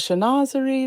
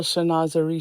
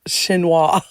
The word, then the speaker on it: chinoiserie: This cute little chinoiserie shoe. You know, funny, I used to think that the word chinoiserie was pronounced chinois. Am I right? Am I wrong? Chinoiserie, I think, is the proper pronunciation.